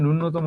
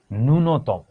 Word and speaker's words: ন্যূনতম: কিন্তু এটার উচ্চারণ কিন্তু ন্যূনতম নয়, এটার উচ্চারণ হলো গিয়ে ন্যূনতম।